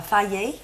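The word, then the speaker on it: Fage: yogurt and one of my favorite is uh Faye it's spelled f-a-g-e but um it's pronounced and I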